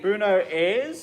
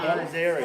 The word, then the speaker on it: Buenos Aires: Well, I've got to say, Bruno Ayres, is that a place? Bruno, is that, am I pronouncing that no. Buenos Aires.